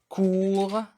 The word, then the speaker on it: court: S à la fin, court terme, je répète, court terme, la lettre T du mot court est bien muette, terme, le E à la fin.